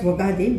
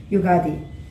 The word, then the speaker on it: Ugadi: we celebrate is yugadi normally we pronounce it as wagadi but we have to pronounce it as ugadi normally everybody celebrates new